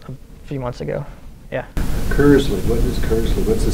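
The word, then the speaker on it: Kirsle: Kursley. What is Kursley? What's the significance of that? Um, it's pronounced curs and that's just a internet alias that I came up with a while ago.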